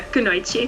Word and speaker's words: Kunoichi: I saw you're a part of the Kunoichi team, if I pronounce it right. Kunoichi? Yeah, Kunoichi.